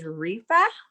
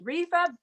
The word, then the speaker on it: Repha: be talking about that today her name is rifa did i pronounce that right yes you did rifa buchmann hi thank you for joining us today